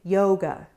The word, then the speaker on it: yoga: Try it again with yoga. Yoga is a rose boat word, but listen to the second syllable.